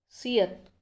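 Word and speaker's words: 시옷: Next सियत।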